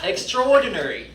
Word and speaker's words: extraordinary: 요거 발음해봐 그랬더니 extraordinary 이렇게 하더라고. 안 되겠죠, 그쵸? 따라서 읽을 거야. extraordinary.